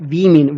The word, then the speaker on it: women: This one is the not omen, but women. Whenever omen becomes plural, it is pronounced like women.